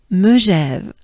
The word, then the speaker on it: Megève: Our favorite riders will finally arrive to Megève, which is at kilometer 141.1 au kilomètre 148,1 in, guess, just guess, yes, in Megève, Megève, Megève, Megève.